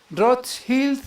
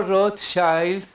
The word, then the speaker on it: Rothschild: Rothschild, bueno, lo pronuncio la CH con J, porque así se pronuncia en alemán. Y esta familia pues de procedencia alemana, judíos también, por supuesto. O Rothschild en inglés, perdón.